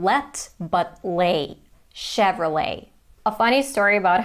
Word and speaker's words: Chevrolet: Chevrolet. Some people say that it's from France, though. Chevrolet. Not ch, but ch and not let, but le. Chevrolet.